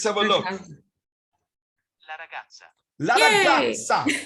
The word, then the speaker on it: ragazza: La ragazza. Actually, it's not la gaza, it's gazza.